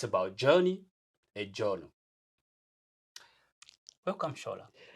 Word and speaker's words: Shola: People who are Nigerians will be going, what is Shola? It's Shola. That's how it's pronounced.